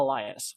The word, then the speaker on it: Elias: party thanks for watching what was the actual pronunciation ariel elias yeah elias i thought i said elias i